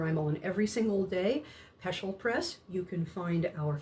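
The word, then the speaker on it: Peschel: Uh, look for Peshel. That's spelled P E S C H E L Press.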